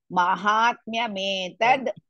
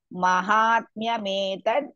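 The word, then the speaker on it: माहात्म्यमेतद्: Again here also it is Mahatmya. Ma is also dirgha, ha is also dirgha. Mahatmya metad. You should pronounce like this. Mahatmya metad Gitayaha.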